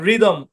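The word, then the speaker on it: rhythm: আর এইচ ওয়াই টি এইচ এম এই শব্দের উচ্চারণ রিদম কি উচ্চারণ রিদম আমরা কি বলছিলাম ওয়াই এর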